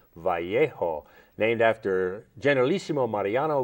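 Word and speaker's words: Vallejo: basil the great um Elementary School in in valo California is what we called it but since I've moved to New Mexico I know it's pronounced vjo named after General lisimo Mariano Guadalupe Vio the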